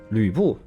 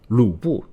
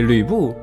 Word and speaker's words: Lü Bu: But some people does often say his name as Lu Bu. This again could be Pinyin working its charm. In Pinyin, we have this symbol Yu to represent the vowel sound Yu.